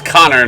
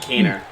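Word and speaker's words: Konnor: So it's Connor, not Keener.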